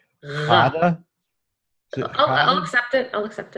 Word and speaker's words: Ghada: So I hope that, I can share the message with Ghada, share what our evidence. My name is Ghada, not Ghada.